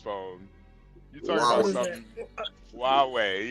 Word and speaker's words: Huawei: Huawei, yeah. You talking about that? You said Hawaii. You said Hawaii, Dewale.